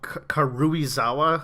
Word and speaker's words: Karuizawa: And this most recent was in a mountain area called Karuizawa, I believe it's pronounced.